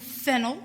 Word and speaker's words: Fennell: my name is fennell pronounced like the vegetable but spelled differently um i am a